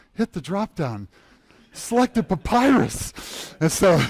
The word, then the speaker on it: Papyrus: Papoose. How do you say it? Papyrus.